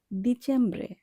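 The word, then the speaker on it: dicembre: ডিচেম্ব্রে, এখানে সবার প্রথমে আছে ডি, আর ডি এর উচ্চারণ ইতালিয়ান ভাষায় দ এর মতো হয়। কাজেই আমরা এখানে ড উচ্চারণ করব না, আমরা উচ্চারণ করব দ, ডিচেম্ব্রে।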